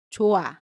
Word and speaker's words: 좋아: For example, let’s look at ‘좋아 (=it’s good).’ When the final consonant ‘ㅎ’ meets the vowel ‘아’ ‘ㅎ’ is dropped. So, you should pronounce .